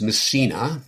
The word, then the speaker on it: Massena: Right, so it's pronounced Massena. Oh, so thank you for the correction. We think that it was named after one of Napoleon's generals. And so Massena was first settled by French people in the late 18th century.